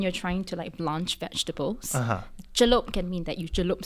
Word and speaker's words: Celup: You are the actor, writer, producer, the whole kit and caboodle of Singapore's Fringe Festival, Celup. Now, am I pronouncing that correctly? Yes, you are. You are. It's Celup. Celup.